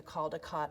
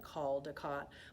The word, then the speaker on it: Caldecott: American Library Association and they actually tweeted at one time that when you're saying it you it should rhyme with ball-like Caldecott but honestly some people say Caldecott some people say Caldecott they're both right is totally fine we're